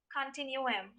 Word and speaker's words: continuum: can you repeat it cartoon um the alternate pronunciation would be continuum i repeat the alternate pronunciation would be continuing